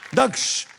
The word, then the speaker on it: दक्ष: दक्ष लोग मुझे मुझे क्या बुलाते हैं? लोग मुझे दुख बुलाते हैं।